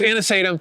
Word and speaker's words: anisatum: Yes, anisatum.